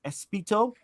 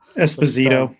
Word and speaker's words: Esposito: Is it Espito? Can't pronounce that. Esposito. Esposito. That's it.